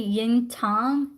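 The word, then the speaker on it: Yin Tang: that migraine and then it's actually Yin Tom and it's spelled t-a-n-g no problem Brienne not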